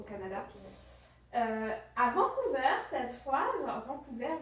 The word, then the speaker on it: Vancouver: avant couvert cette fois Vancouver Vancouver c'est un mix de la prononciation française voilà au Canada et du coup il